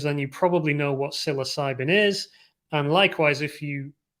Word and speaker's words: psilocybin: silicon valley silicon valley psilocybin silicon so that's the play on words um basically playing on the kind of silent p in the word and making a joke